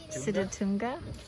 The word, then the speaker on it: Sitatunga: How would you pronounce that? Sitatunga.